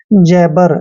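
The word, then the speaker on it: jabber: बी ई आर दोस्तों ज जे का उच्चारण ज करेंगे ए को ए की मात्रा पढ़ते हैं डबल बी का उच्चारण ब करना है ई आर को र पढ़ते हैं जबर जबर होता है बड़बड़ाना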